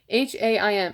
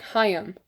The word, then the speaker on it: Haim: Haim. I think it's like Haim.